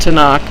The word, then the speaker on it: Tanakh: anagram I don't know but TMK which is pronounced Tanakh also known as the new test or the